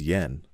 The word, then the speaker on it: JPY: akiyama from jpy inc it is written as jpy and pronounced as yen as you may have